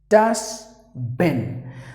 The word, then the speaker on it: dustbin: So DUSTBIN. So the T is silent. That's the only change you gotta make. It's pretty easy.